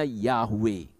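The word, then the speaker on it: Yahweh: i a u e i a u e itu bacanya yahwe karena huruf Yunani tidak mengenal huruf y tidak mengenal kalau ye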